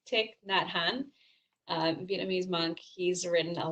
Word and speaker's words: Thich Nhat Hanh: This name, Vietnamese monk, I just looked up how to pronounce it correctly, and I'm gonna probably butcher it, but I think it's Thich Nhat Hanh.